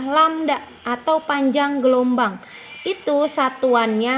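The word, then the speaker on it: λ: dengan istilah landak Nah mungkin kamu aneh melihat ini ini dibacanya adalah lamda atau panjang gelombang itu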